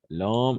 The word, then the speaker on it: l'homme: Écrit, l'homme écrit, voilà, l'homme écrit. L'homme écrit, disons, une lettre. Voilà. El hombre escribe una letra. Una carta, pardon. Écrit, en effet, ça marche très bien. L'homme, attention. L apostrophe, H muet.